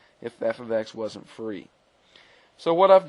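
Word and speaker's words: f(x): If I was to simply say f of 3, and notice this may look like f times x, but it is pronounced f of x, then f of 3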